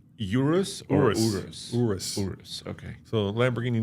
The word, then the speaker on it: Urus: So first of all, how do you say Urus or Urus?